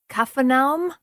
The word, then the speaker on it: Capernaum: might be something like kafam oh my word okay so the p is not a hard P but yeah well there's no p in Arabic ah which is a